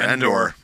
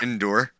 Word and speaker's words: Endor: mentioned Vancouver there's your Endor yeah I said it right this time yeah not indoor indoor outdo Endor Endor that's the accent up